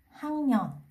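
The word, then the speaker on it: 학년: Ví dụ số 2, Hắc Nhon là cách viết. Ở đây mình có âm đuôi là Kiok, phía sau là Nien. Ở đây phát âm của mình sẽ thành là Hăng Nhon.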